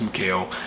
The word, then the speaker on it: Mikal: I call him Mikal. Some people call him Michael. It's Mikal.